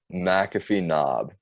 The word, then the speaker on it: McAfee Knob: I always pronounce this wrong. It's McAfee Knob, which is in Virginia.